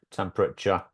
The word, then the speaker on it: temperature: So, now you'll notice in British English and American English, it's got 3 syllables, right? Stress is on the first syllable.